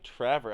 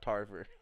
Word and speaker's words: Trevor: place finisher Mr Ryan Trevor I've been I said your name wrong almost half the Damn Race So I realized it was Trevor and not Tarver oh my Paul she's